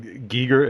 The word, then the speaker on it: Giger: You know, everything that Giger is it Giger? Is that how you pronounce Yeah, it? Giger.